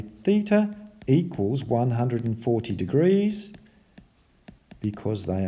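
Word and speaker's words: θ: It's actually pronounced theta, and it's a letter from the Greek alphabet.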